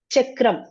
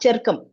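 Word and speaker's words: चक्रम्: Chakram, not Charkam.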